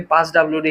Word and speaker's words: passwd: দেখেন পি A double S ডবলিউডি স্পেলিংটা ঠিক করলে কিন্তু এটা পাসওয়ার্ড উচ্চারণ করা যায় না। সো এটাকে আপনি পাস ডবলিউডি হিসেবে মনে রাখবেন।